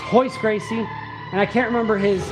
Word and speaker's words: Royce Gracie: It's spelled Royce Gracie, but they pronounce their R's differently in Brazil. Um it's Royce Gracie, and I can't remember his um brother's name or his cousin's name.